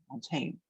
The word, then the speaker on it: mountain: The accent would be in the first syllable, mountain.